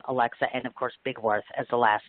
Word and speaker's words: Bigwarfe: It's actually Alexa Haddock, like the fish, Bigwarfe. So let's spell that.